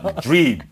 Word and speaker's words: dream: 그러니까 앞으로는 꿈도 드림 아니에요. 드림은 제가 이걸 드림, 받음 그럴 때 쓰는 거고 dream 그렇게 하셔야 돼요.